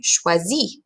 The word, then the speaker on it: choisis: Tu choisis. Again, that last S is silent.